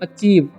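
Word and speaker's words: achieve: पर लिखा हुआ है ए सी एच आईई तो इसे पढ़ते हैं हम लोग अचीव क्या पढ़ते हैं अचीव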